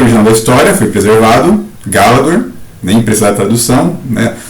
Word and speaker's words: Gálador: O título original da história foi preservado Galador, nem precisar tradução, né? só colocaram o acento agudo em português na primeira sílaba, eh, na história anterior,